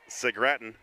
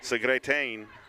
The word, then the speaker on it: Segretain: It looks like Segratin, but it is Segretain.